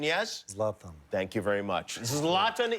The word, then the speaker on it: Zlatan: You want to see Zlatan, and Zlatan is the correct pronunciation, yes? Zlatan.